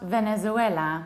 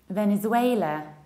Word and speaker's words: Venezuela: It's not Venezuela. It sounds very Spanish then. It's Venezuela. Venezuela. In the middle you have złej, like in Polish, złej, kobiety nie chcemy.